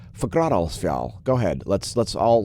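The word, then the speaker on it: Fagradalsfjall: fagradosville yes forgrad also i learned how to pronounce it last week and now i'm delighted to say fagradocial and you can try to say it too if you like forgradosval go ahead let's let's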